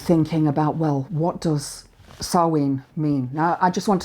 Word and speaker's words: Samhain: to do and thinking about, well, what does Samhain mean? Now, I just want to remind you, it's spelled Samhain, S-A-M-H-A-I-N, but it's pronounced Samhain.